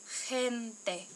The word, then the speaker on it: gente: Sí, es gente. Gente uses the soft G.